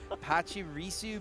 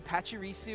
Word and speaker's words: Pachirisu: a little bit of uh mispronounced Pokemon commonly mispronounced oh no I do this all the time yeah unintentionally that's the point here Apache risu Pachirisu I feel like I've always said that one